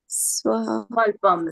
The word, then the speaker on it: svalpam: Number two, it is one word, okay? I want you to look at that one word and pronounce it. Sv-alpam. There you go. Everybody say sv-alpam. Svalpam. Svalpam. So no more sv-alpam. Okay, sv-alpam. Just sv-alpam. Say sv-alpam one more time.